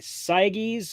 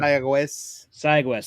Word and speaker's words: Sayagues: Rhodos Sayages. I probably butchered that name. Sayagues. Thank you.